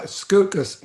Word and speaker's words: Scucas: kill your last name uh scucas easy way to remember it rhymes with mucus and i'm here geez